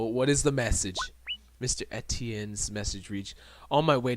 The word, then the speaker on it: Etienne: Put the pronunciation of Etienne.